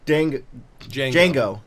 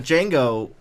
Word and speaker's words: Django: There was a song about Django. The D is silent. Yeah, there was a title song. The song about Django was a lot like the song about the sheriff.